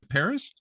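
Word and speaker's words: Pérez: do you say that name there it is Paris Perez there we go yeah I'm very white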